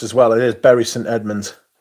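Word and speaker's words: Bury St Edmunds: a berry St Edmonds that is how it's pronounced as well it is berry St Edmonds it's not bur St Edmonds there's another place called bur which is called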